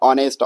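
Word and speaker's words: honest: लेकिन उसका ए साइलेंट है। उसका प्रोनाउंसिएशन क्या आ रहा है? ऑनेस्ट अ आ रहा है तो एन आएगा।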